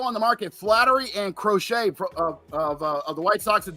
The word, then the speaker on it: Crochet: Garrett Crochet or Crockett, I don't know how you say it. Crochet. You had it right.